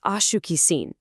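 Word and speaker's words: acho que sim: Check out that seen at the end. We just practiced that nasal sound a second ago. But this time, lean heavily into the a at the very beginning. Slide right through shuki and land back on that familiar seen.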